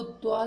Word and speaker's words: क्त्वा: ठीक है, इसी प्रकार से जैसे गम प्लस कत्वा, ऐसे इसको कत्वा नहीं बोलते, इसको केवल त्वा ही बोलते हैं।